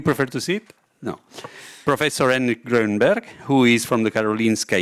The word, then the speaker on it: Henrik Grönberg: Professor Henrik Grönberg, who is from the Karolinska Institute, Senior Consultant and Manager for Prostate Cancer Center, Capio San Göran.